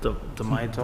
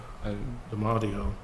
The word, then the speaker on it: D'Amato: This one is Brenda D'Amato. Am I pronouncing that? D'Amato? Brenda D'Amadio.